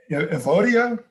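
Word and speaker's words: Euodia: this first one right avodia the way you pronounce it depends on what kind of greek you speak evodia and cynic cintiki uh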